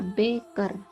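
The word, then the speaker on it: Bäcker: Contoh pada kata Beker, tulisannya B, A umlaut, C, K, E, R. Jadi A nanti akan berubah menjadi E.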